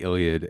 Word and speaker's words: Iliad: That's how you say it, the Iliad.